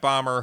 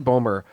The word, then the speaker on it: Bomer: it's also got Matt Bomer, who I've always liked from I like think it's Bomer. is it Bomer? I thought it was I think Bomber. it's Bomer. It's- No, I think it's pronounced Bomer.